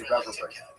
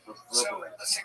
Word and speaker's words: reverberate: I like to say reverberate, but it's actually reverberate.